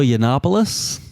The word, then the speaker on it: Yiannopoulos: Yana you know who that guy is Milo yiannopoulos thank you uh Dale can pronounce things I cannot anyway Milo is I